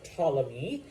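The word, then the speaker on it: Ptolemy: by his General uh tmy um the p is silent like it is in most Greek words um this is Cleopatra's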